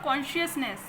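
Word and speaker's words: consciousness: ठीक है, इसको जो प्रोनाउंसिएशन होगा वो होगा कॉन्शियसनेस.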